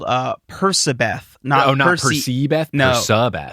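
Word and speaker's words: Percabeth: okay apparently it's like i think there is some division about which is correct but i think persibeth is the pervasive pronunciation i like it because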